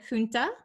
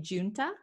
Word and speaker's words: junta: or non-violent okay then we have the word funta in the uk junta a military or political